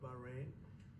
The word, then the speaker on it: Bahrain: Well, it's a great honor to have the Prime Minister and the Crown Prince of Bahrain. I was pronouncing it correctly.